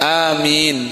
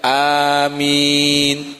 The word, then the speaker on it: amin: Jadi beliau menjelaskan, disunahkan bagi orang yang membaca Al-Fatihah untuk mengucapkan amin setelah membacanya. Seperti Yasin dibaca panjang, amin panjang, seperti itu. Dan bisa juga dibaca dengan pendek, kata Imam Ibnu Katsir, yaitu amin. Nah, seperti itu.